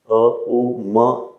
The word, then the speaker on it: ओम: साधना इसलिए है कि ओम का उच्चारण आप ठीक तरीके से कर पाए तो उच्चारण तो आपको ओम का ही करना होता है उच्चारण तो ओम का ही करना होता है अ उ म ऐसे साधना नहीं यह आपके